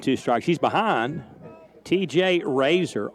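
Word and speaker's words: Rasar: strikes she's behind TJ Razer r a s a r pronounced like the utensil you used to shave your whiskers in the morning that's ball low and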